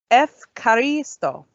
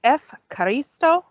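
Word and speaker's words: ευχαριστώ: next on the list, this is Efkaristo. Let's try that again. It's Efkaristo. This one kind of rolls off the tongue a little bit easier. Efkaristo means thank you.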